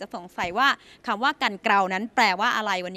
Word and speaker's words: กันเกรา: ไม่ รู้ จัก และ หลาย คน ยัง อ่าน ออก เสียง ผิด ๆ กัน ว่า กัน เกรา และ แม้ ว่า กัน เกล่า จะ ถูก ใช้ เป็น